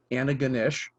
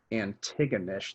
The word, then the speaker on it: Antigonish: our last episode with my original pronunciation of the town in nova scotia anna ganesh which i think is correct now i embarrassingly pronounce it as antigonish the first time around but i have